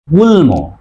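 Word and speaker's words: গুল্ম: উচ্চারণে হবে তাহলে উচ্চারণ হবে আর দেখো ল গুলম আসলে উচ্চারণ হবে গুল্ল নয় গুল ম কারণ কি গুলম তাহলে আমরা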